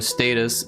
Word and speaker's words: Status: Now, this is Chase and Status or Status as they pronounce it in the UK where they're from.